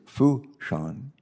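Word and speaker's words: Fourchon: the port director of uh port and it's pronounced here fou sean is that correct uh good and which is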